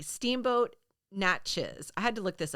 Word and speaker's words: Natchez: Number 3, Steamboat Natchez. I had to look this up. It's spelled Natchez. I want to say Natchez, but I think in Cajun it's pronounced Natchez.